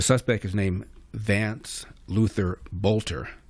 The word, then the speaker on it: Boelter: The suspect is named Vance Luther Bolter. It's spelled B O E L T E R pronounced Bolter.